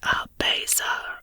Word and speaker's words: abaza: The word is pronounced Abaza, rhyming with chaser.